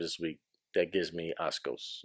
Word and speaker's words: asco: Because I've heard you say a couple of times this week that gives me Ascos. Is that how you say it? Not Ascos. How do you say it? Asco? Yeah.